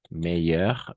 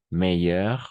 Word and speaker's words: meilleur: Meilleur, meilleur, meilleur, meilleur. Ahora sí, a nivel de pronunciación no hay mucha diferencia. Va a ser la misma. No hay diferencia, va a ser la misma siempre.